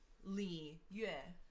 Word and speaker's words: Liyue: The trick with a lot of the Chinese words is that it sounds like 2 syllables in one. Okay. So it's like yue. Just make it Yue. one. Yeah. You eh? Yeah. Okay. So It's you just have to do it Yue. like as 1 syllable.